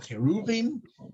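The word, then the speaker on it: כרובים: there are these two cherubim cherubim i think is how these pronounce it in english in hebrew we call it keruvin and they were childlike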